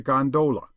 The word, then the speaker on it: gondola: amongst the fraternity as a gondola with the second syllable emphasized and pronounced long but to return I